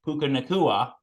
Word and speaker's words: Puka Nacua: Puka Nacua, and Tutu Atwell, who have really been, stepping up since Cooper Kupp has been injured for the Rams.